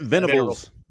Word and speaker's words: Venables: How do you pronounce it? Venables.